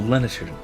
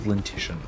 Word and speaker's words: lenition: Oh, Lenition. Lenition. Okay. Lenition. I thought it was Lentition.